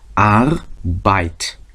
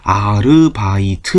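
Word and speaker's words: Arbeit: 발음을 단위로 끊으면 어떻게 끊어야 돼요 아를 하나 끊고 그다음에 바이트를 하나 끊어야 되는 겁니다 그래서 발음이 아 bite 해서 아바이 발음이 몇 개로 이어져 있어요 두 개로 바죠 이음 줄이죠 그러다 보니까 아르바이트라고 발음을 해야 되는데 이거를 우리 식으로 발음을 바꾸면 어떻게 된다 모음이 다섯 개 짜리가 되니까 아르바이트 이렇게 되죠 그러니까 전혀 다른 발음이 나오죠 그래서 영어도 마찬가지입니다 항상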